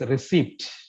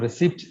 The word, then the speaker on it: receipt: used to say is receipt receipt that is not receipt it is pronounced as receipts with a silent P receipt and now we